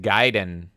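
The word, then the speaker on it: Gaiden: here angry Canadian says it's pronounced giden like ninja Guiden fard says yeah Yang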